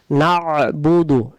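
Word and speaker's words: إِيَّاكَ نَعْبُدُ: তারপরে ইয়াকা, ইয়াকা, ইয়াকা, এখানে ইয়াকা নাবুদু ওয়া ইয়াকা নাস্তাইন অনেকে আমরা উচ্চারণ করে ফেলি।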